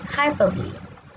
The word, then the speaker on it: hyperbole: It's pronounced as hyperbole.